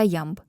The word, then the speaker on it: ямб: Віршові розміри, в основі яких лежать двоскладові стопи - це хорей та ямб. Хорей - двоскладова стопа з наголосом на першому складі. Ритм Хорея, хід диджея. Ямб із наголосом на другому складі.